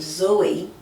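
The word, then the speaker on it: Zoë: So, for example, a word naive. So the word naive has two vowels next to each other, and the word Zoe has two vowels next to each other, but you want to pronounce them separately.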